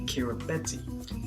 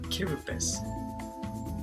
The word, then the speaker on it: Kiribati: Now guys, if you look at the word Kiribati, it sounds like Kiribati. Well, no, that's not how you pronounce it. It's pronounced Kiribati.